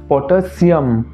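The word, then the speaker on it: potassium: একচুয়ালটা হবে পটাশিয়াম, calcium, magnesium. অর্থাৎ যখন সিটা বলছো সিতে কিন্তু জোর দিতে হবে যেটা আমরা প্রায়ই দিয়ে থাকি না।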